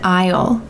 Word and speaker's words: aisle: notice this pronunciation I the S is silent go down an aisle or you can say it's on aisle three great pronunciation crackers